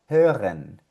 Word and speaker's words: hören: La H con la O umlaut, como en esta palabrita, hören.